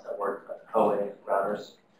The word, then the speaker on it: Huawei: And there are lots of vulnerabilities in I'm not sure how to pronounce that word, but Huawei routers.